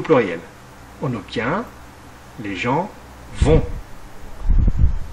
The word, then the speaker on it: vont: on obtient les gens vont attention lutter à la fin est muet et ne se prononce pas voilà cette leçon est